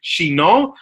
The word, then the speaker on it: Chinon: not from Chinon, but we would pronounce it as, in my best French accent, Chinon, which is a township in the center of France.